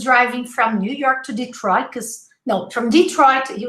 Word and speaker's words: Detroit: he goes oh okay it's detroit detroit not the try so be very careful